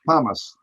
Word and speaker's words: pumice: I didn't learn how to say it. It's pronounced pumice.